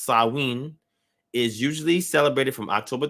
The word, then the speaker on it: Samhain: um in modern times samhain a gaelic word pronounced sawin is usually celebrated from